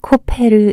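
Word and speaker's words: כֹּפֶר: 시대마다 달라질 수 있습니다 역청의 원어 발음이 코페르 있니다이 역청는 가리다 의미가 있습니다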